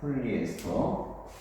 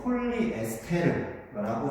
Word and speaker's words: 폴리에스터: 폴리에스터. 어떤 그 책에 보면 아직도 폴리에스테르라고 적혀 있는 데도 있던데 폴리에스터가 맞습니다. 폴리에스테르라고 하면 안 됩니다. 잘못된 발음이에요.